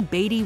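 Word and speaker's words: Beatty: confirming or denying them it's actually batty with one t repeated to help the public with proper pronunciation they may also be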